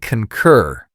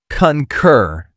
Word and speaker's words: concur: The pronunciation is concur. Two syllables with stress on the second. The first syllable has that short u sound like in cup.